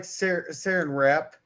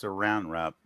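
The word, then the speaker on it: Saran Wrap: Boomer says, "I like sarin rap." Saran Saran rap. It says sarin. Yeah, but it's pronounced saran rap.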